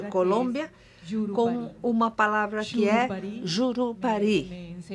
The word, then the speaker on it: Jurupari: com uma palavra fiebre Jurupari Jurupari Walter me disse que é assim que você produzida se pronuncia em português para é uma lenda